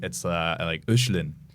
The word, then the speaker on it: Hoechlin: I think it's like Hoechlin. It's German. It's supposed to be like an umlaut over the the OE is in. So that's the real pronunciation of it. Hoechlin.